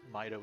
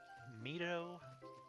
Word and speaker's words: Mido: what it is is mido sounds more like how i would expect the japanese reading of that to be and that's also how i tend to pronounce the um the town and zelda ii but mido just sounds more like a name like a western name i guess forest training